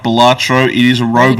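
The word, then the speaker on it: Balatro: and you enjoyed playing batro which I've been told is the way that I need to pronounce it now not batro uh and you enjoyed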